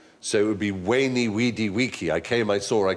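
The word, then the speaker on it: veni, vidi, vici: I was taught Latin we were taught to pronounce the v as a w so it would be wany weedy weaky I came I saw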